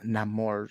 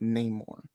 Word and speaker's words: Namor: true and actually guys it's now pronounced Namor and I don't like that I want to pronounce it name more bro that's my thing